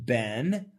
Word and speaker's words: been: B-E-E-N, American pronunciation, ben, up.